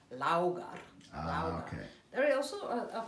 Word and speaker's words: Laugar: I say Laugar. How do you pronounce it? Laugar. Laugar. Laugar. Like the in chauffeur. Laugar.